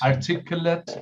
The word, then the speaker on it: articulate: else is good articulate articulate is exactly people tend to say eight but it's particular and so on and